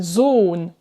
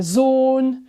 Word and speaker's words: Sohn: Tu as remarqué, avant les doubles consonnes, 2N, 2L, le O est plus court. Sonne, sollen, wollen. Alors qu'avant un H, le O est plus long. Der Sohn, die Sohle, wohnen.